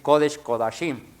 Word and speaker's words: Kodesh Kodashim: Si usted lo leyera o si estuviera pronunciando en hebreo, usted tendría que decir Kodesh Kodashim, el santo de los santos.